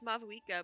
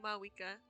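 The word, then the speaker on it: Mavuika: Do you not pronounce the V? I thought it was Mavwika, but she's just saying Mawika.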